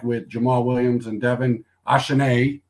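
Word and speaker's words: Achane: Jamal Williams and Devin ashanae uh French version of it here in around 12.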